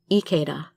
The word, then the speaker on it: Ikeda: like the Japanese Ikeda, because like I said, I is pronounced E, so Ikeda.